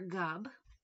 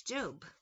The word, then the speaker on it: Job: the punk rock version by job like the man of the Bible some people spell it they say it as JB or gob it's job it's spelled weird I don't know why